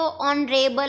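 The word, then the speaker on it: honorable: Student, यहाँ ऑनरेबल जो है एच से स्टार्ट होता है, और एच क्या है? कॉन्सोनेंट है, लेकिन रिमेंबर यहाँ साउंड जो है, प्रोनाउंसिएशन जो है वो ऑनरेबल है, ओ की प्रोनाउंसिएशन है, तो ओ क्या है?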